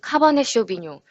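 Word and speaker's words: Cabernet Sauvignon: 적었을 때 발음이 고요 실제로 발음은 카버네 쇼비뇽 이라고 발음하는 것이 맞습니다 영화에서도 약자 로 발음하는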